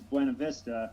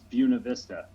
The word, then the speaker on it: Buena Vista: Yeah, like there's a town in Colorado that in Spanish is Buena Vista or Buena Vista. Yeah. But in Colorado it's Buena Vista.